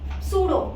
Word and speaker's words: pseudo: सूडो, PSEUDO, इसके लिए P डालना है. सूडो का T साइलेंट है.